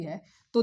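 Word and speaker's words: जुंटा: में military rule लग जाता है और म्यानमार में मिलिट्री रूल दे स्पेलिंग को गौर से देखिएगा ये लिखा है जंता लेकिन म्यानमार में उसको हुता पढ़ते हैं और वहां की मिलिट्री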